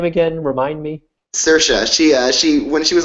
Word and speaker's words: Saoirse: name again remind me saoirse she she when she was on the The Late Show with Stephen Colbert sheshe a handy tip is that it rhymes with inertia well I don't know